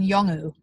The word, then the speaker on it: Yolngu: And it's going to be called How Do You Say Yoga in Yolngu?